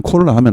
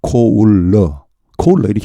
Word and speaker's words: cola: 이 COLA의 정확한 발음은 콜라가 아니고 코울러입니다. 코울러 이렇게 해야 되지. 콜라, 코울러. 아 다르고 다르다고 확실히 다릅니다 이게.